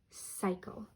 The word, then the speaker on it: cycle: the word city cycle this C is a soft C because it comes before the Y this C is a